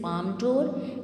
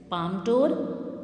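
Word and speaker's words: Palme d'Or: So it is basically international award, and बच्चे try to learn its correct pronunciation. It is Palm d'Or and it is Cannes. Palm d'Or, Cannes. So try to keep this in your mind.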